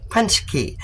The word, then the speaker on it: paczki: but that is a punch key okay and it is spelled p a c z k i but it's pronounced punch key okay and what is